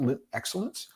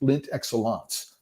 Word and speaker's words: Lindt Excellence: I've been pronouncing it wrong all the time. It's not Lindt Excellence. I saw a commercial, an ad for them on YouTube, and it's Lindt Excellence, by the way, in case anybody wants to